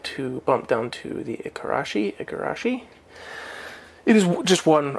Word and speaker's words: Igarashi: of those words but the name can be pronounced with a G or k so you'll spell it you'll see it's spelled igarashi ikarashi depending on the region of Japan for the person who's